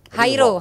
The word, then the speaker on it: Jairo: Jairo Riedewald, bener gak tuh bacanya? Hairo. Riedewald. Hairo Hairo kan?